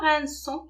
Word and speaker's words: rinçons: Par contre, nous rinçons, regardez, on a remplacé C par cécédile. Sinon, on va la prononcer, nous rinçons, et ça ne se lit pas.